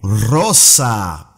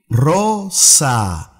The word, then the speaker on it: rosa: Some Spanish countries pronounce the R a little bit softer too. They can say rosa. Rosa. Or rosa. Pronounce it whichever way you feel more comfortable with. Both are correct.